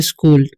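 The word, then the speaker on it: school: तो इसे हम पढ़ते हैं स्कूल, ठीक है, यानी कि यहाँ पर सी एच का उच्चारण क्या हो रहा है, क, ठीक है, एस से हो जाएगा एस, और एस सी एच का हो जाएगा इसका, ठीक है, और डबल ओ का ऊ, एल से होता है स्कूल।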